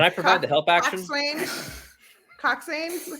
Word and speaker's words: coxswain: Coxswain? How do you say it? Coxon. Coxswain. Think of it this way: Cox. In. Coxon.